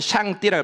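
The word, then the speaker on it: 上帝: 중국 발음으로는 샹띠라 그럽니다. 샹띠. 샹따이라고도이 한동안 좀 발음했다 그럽니다.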